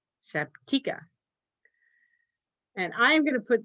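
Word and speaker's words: Sabtechah: your Bible study people, go in there and pronounce that name correctly the first time. Honestly, you probably won't know the difference, but it is, according to the audio Bible, Sabtika.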